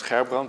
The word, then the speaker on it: Gerbrand: So the Dutch way to pronounce my name is Gerbrand, but since no one can do that, I pronounce anything vaguely.